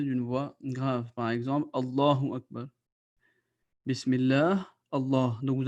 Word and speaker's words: Allah: But if before the name of Allah, you have a letter on which you have either a dama or a fatha or a zabar or a pesh, then the name of Allah will be pronounced with a thick voice.